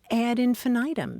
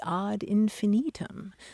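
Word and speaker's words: ad infinitum: and we shouldn't be talking about things add infinitum because in Latin it would be odd infinitum and Mary and the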